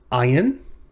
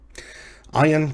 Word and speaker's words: ayin: This is the letter ayin. It's pronounced as a glottal stop, which means it uses